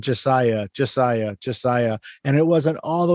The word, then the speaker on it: Ja'Siah: Now, I'm saying it correctly, right? It's Josiah? Yes, Josiah.